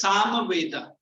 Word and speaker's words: Samaveda: It is Samaveda. तुम्हारा miss ऐसे ही pronounce कर रही है, ऐसे ही बोल.